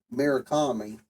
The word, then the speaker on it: Murakami: So Corman hired Murakami, I think is how you say his name.